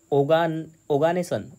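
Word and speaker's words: Oganesson: क्या बोलेंगे इसको, ओगानेसन, ओगानेसन बोलेंगे स्पेलिंग इसका नाम।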